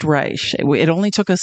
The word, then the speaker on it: Reich: It looks like it's spelled Reich, but it is pronounced Reich.